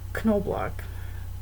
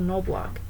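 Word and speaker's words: Knoblock: instead of ch and they still pronounce both the k and n sound in the beginning as knoblach when they're in huron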